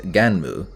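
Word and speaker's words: Gunnm: released in japan as ganmu which is the most proper pronunciation i could find and apparently a port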